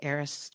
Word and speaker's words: ARIS: during the Taylor Swift ARIS tours, which was actually pretty hilarious. Uh people say, "How do you pronounce that?" Just think Taylor Swift and you're all set.